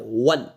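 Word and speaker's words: one: है ये कंसोनेंट का आ रहा है वन वन अभी देखो ओल्ड में आपको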